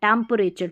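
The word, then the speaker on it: temperature: Time T ई M time P ई प आर ए रे रे और टी यू आर ई को चर पढ़ते हैं।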